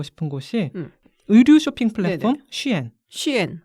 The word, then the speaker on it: SHEIN: 곳이 의류 쇼핑 플랫폼 쉬엔 CN 어 스펠링은 s i 근데 그걸 시이라 읽어 쉬엔 같기도 하고 쉐인 같기도 하고 중구난방인데 일반적으로는 쉬엔이라고 부르더라고요 아 그러면 이거는 중국